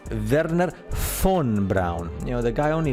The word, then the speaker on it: Wernher von Braun: that correctly, Werner von, because the V in German sounds like an F, so it's Werner von Braun.